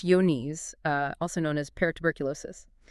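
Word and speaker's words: Johne's: It's exactly that kind of hidden threat we're diving into today, John's disease, and that's pronounced yon, uh, also known as peruberculosis.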